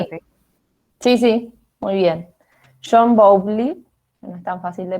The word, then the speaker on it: Bowlby: ¿No es Bowley? No sé si se pronuncia Sí, así. sí, muy bien. John Bowlby, no es tan fácil de pronunciar, es el autor de esta teoría.